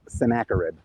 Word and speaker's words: Sennacherib: it was destroyed um in english his name is pronounced sennacherib i think that sennacherib is a funny way to pronounce his name but uh we're talking